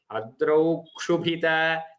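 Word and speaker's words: अद्रौ क्षुभित: Adrau kshubhita, as if there's an extra half ka even in front of. It is not there, but that is the grammatical rule how it should be pronounced.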